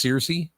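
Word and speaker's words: Cersei: CI CI CI yeah was it oh it's pronounced CI yeah she was uh she one of the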